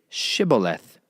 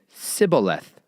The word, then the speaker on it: Shibboleth: If he said, "No," then they would say to him, "Please say Shibboleth." And he would say Sibboleth, for he was unable to pronounce it right.